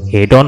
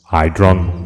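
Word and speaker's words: Haydn: আছে কিন্তু আপনার নেই কি রকম হাইড্রন মোটার্ট বেটাফেন এই হলো আসল উচ্চারণ হাইড্রন মোটার্ট বেটাফেন থ্যাঙ্ক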